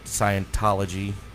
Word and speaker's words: Scientology: picked on this the uh Church of Sci Scientology okay am I saying it right yeah okay